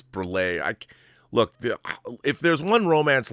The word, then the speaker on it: Breillat: But I'm sure I'm mispronouncing. Elizabeth would be like, her name is not Catherine Breillat. It's Breillat.